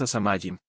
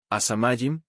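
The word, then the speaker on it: הַשָּׁמַיִם: A la quinta palabra es asamayim. Tiene el artículo definido a y siempre es palabra grave o llana. Note el acento al lado de la tercera.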